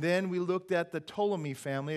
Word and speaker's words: Ptolemy: we looked at the Ptolemy family it's it's gotta pee have you got that right there the Ptolemy family but that you don't pronounce the piece o Ptolemy family they were in Egypt